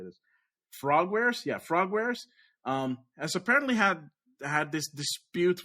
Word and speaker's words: Frogwares: Yeah, Frogwares, has apparently had this dispute with the publisher called Nakon, which is a Ukrainian studio.